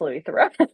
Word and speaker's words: Louis Theroux: I put in parenthesis pronounced Louis Throne.